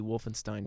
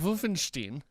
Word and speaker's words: Wolfenstein: Whichever one comes second, that's the one you pronounce.